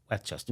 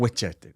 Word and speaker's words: Westchester: Pronounce it properly. Westchester. Westchester.